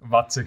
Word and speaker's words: Waczek: Watzek, habe ich das richtig ausgesprochen? Watzek, sagt man's.